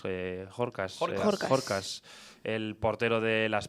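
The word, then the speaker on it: Horkaš: un partido en el que eh, ¿cómo se pronuncia el eh Jorbas? Eh, Jorcas, Jorcas, el portero de Las Palmas, eh teóricamente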